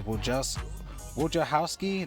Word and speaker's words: Wojciechowski: Now he's 2 for 2 going against let's see how you pronounce his name, is Wojciechowski. That's how you pronounce it.